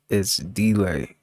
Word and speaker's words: Dlai: It's delay. It's delay. It's spelled ITSDLAI. Delay. What the fuck is that?